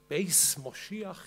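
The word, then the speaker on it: בית משיח: The house is also called Beit Chayenu, house of our lives, Beit Mashiach, Beis Moshiach in Ashkenazi pronunciation, house of the Messiah. The numerical values of the Hebrew letters in this name, Beit Mashiach, add up to 770.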